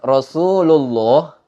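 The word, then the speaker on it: رسول الله: Contohnya seperti kalimat Rasulullah kalimat Rasulullah kita fokus pada kalimat Allah yang dibaca tebal kalimat Rasulullah itu termasuk labul jalalah yang dibaca tafkhim gitu Rasulullah dibacanya Allah nggak dibaca lah tapi dibaca Allah Rasulullah didahului sebelum kalimat Allah itu ada harokat dhomah Rasulullah bertemu dengan lafaz Allah maka dibacanya Rasulullah nggak dibaca kalau ada yang baca Rasulullah itu cara bacanya Salah tapi yang benar dibaca tebal Rasulullah atau kalimat yang lain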